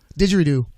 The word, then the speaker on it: didgeridoo: Didgeridoo.